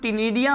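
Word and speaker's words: ctenidia: और ये जो टिनिडिया होता है ये बेसिकली यहाँ पे सी साइलेंट है, इसलिए हम क्या कह रहे हैं, इसको टिनिडिया कह रहे हैं।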